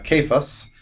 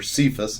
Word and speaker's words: Cephas: So kephas. He's actually referred to in the Bible a couple times, especially by Paul, as Cephas, or Cephas is how we pronounce it in English.